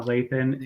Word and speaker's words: Lathan: don't know how to say her name Sana Lathan yeah Lathan yep and Dennis Haysbert the All-State guy uh